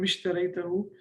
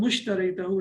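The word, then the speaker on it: اشتريته: why it is become ishtaraytahu. Instead of saying become mushtaraytahu, it's difficult to pronounce. Become ishtaraytahu is easy to pronounce, so that's why it is with kasra.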